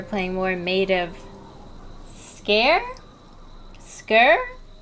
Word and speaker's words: Sker: more made of scare skir i said scare i think it's pronounced scare i think elizabeth did say that in the beginning she was like scare island and it just